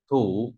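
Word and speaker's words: 土: Rồi, tiếp theo ta có bộ thổ, nói về đất đọc là gì? Thủ.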